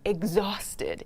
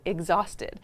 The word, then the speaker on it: exhausted: Exhausted. Exhausted. Not exhausted, but exhausted. Sounds kind of like ex in American English.